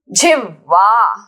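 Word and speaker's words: जिह्वा: Jivha. How to pronounce this word? There is ha, half, and then focus directly on va. Jivva.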